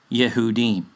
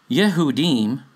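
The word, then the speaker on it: יהודים: the Jewish sources, will tell you this is pronounced Yehudi, or similar, or in plural, Yehudim.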